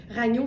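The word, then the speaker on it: Ragno: Il est sur le site Ragnu. Ça s'écrit R A G N O comme ça se prononce et on l'a en gris.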